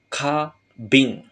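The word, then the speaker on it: 花瓶: seperti ini ya minasang dia akan dibaca kabing jadi bunga di sini dibacanya dengan cara Ong Yomi ka ya kabing bunga dan botol maknanya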